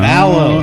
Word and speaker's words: Valleau: No, Vallow. It's like Gallo, but with a V. Vallow.